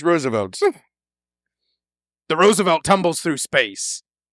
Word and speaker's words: Roosevelt: like it should be Roosevelt Roosevelt but it's pronounced Roosevelt the Roosevelt tumbles through space consoles erupt Sparks